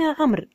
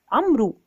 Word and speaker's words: عمرو: كلمة عمر وما بين عمرو. عمرو بوجود الواو، لكن لا نقول عمرو، وإنما نقول عمرو. عندما نقول عمرو هذه قراءة خاطئة.